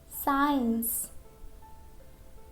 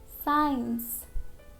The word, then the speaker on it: science: Letter C is silent after S or before I or E. Okay? For example, science, science, scissors, scissors, muscle, muscle, fascinate, conscious, conscious, descend, descend, scent, scent, seen, seen.